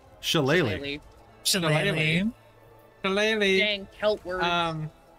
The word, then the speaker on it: Shillelagh: All right, so I'm going to use my bonus action to cast the cantrip, however you pronounce this. Shalalag? Shillelagh.